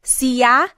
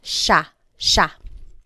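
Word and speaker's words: siya: And again, just to point out the pronunciation, it looks like it should be pronounced sa, but it's usually pronounced sha sha.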